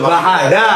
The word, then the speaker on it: bandeja: Bahada. Oh bahada. Bajada tulisannya ya. Bajada tulis bahada bacanya. Bacanya bahada tulisannya bandada. Eh bandeha kan tulisannya kan bandeja juga.